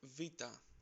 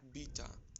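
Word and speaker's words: βήτα: Next is vita. You must There we have go, heard vita. it like beta or beta.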